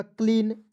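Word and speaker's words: clean: read उसके बाद देखिए सी एल ई ए एन क्या पढ़ेंगे तो ई ए का उच्चारण बड़ी के रूप में होगा क्लीन एच ई ए टी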